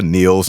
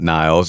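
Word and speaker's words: Nils: Yeah, Neil's, not Niles.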